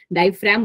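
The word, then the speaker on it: diaphragm: नाम है difragum muscles diframe बोलते हैं बट मेरी आदत जी बोलने की भी है बट क्योंकि जी साइलेंट होता है diframe मसल्स और दूसरी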